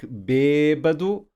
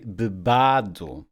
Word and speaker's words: bêbado: Without the accent mark, bêbado, we would say bebado.